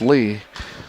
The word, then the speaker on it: Lea: So we've got Kiana Lee and Kiera Lee, and once again spelled L-E-A, but they were quick to tell me it's pronounced Lee.